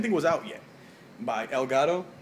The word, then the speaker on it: Elgato: was out yet by Elgato Elgato I should say it properly because I'm Colombian I'm Hispanic don't look